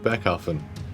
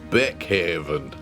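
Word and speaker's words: Beckhaven: Uh, someone finally told him uh that Becken isn't pronounced Beck Haven. Do you notice that in every other cut scene? He's been saying Beck Haven and today he said Becken, but he said it quite quietly like he still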